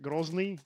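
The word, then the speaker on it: Грозный: But Russian term, which is pronounced Grozny, means like exactly that he kind of is a hard ruler.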